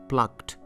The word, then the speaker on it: plucked: the verb for example plucked you can't say plucked this ed should be pronounced as to plucked and smashed and what